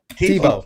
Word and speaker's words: Thibault: Thibault. Just like Thibault, the football yeah.